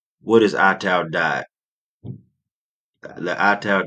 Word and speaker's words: Ital: is AAL diet the ital D pronounced IAL comes from the word vital s signifying Life Energy